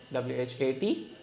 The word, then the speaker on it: what: Without H we can pronounce this like W-H-A-T. We write but we say what? H is a silent word.